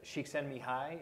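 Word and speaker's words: Csikszentmihalyi: This was um uh shiken Mii is that he pronounced his last name more or less um he uh psychologist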